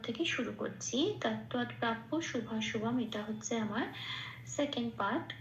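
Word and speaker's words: শুভাশুভম্: এটাকে পরের সাথে পড়ে দিতে হবে তাহলে পশ ঠিক উচ্চারণটা সংস্কৃত হবে পিয় তাহলে কি বলব প্রাপিয় আচ্ছা এবার শুভ শুভমটা যেমন আছে তেমন শুধু খেয়াল রাখতে হবে ময়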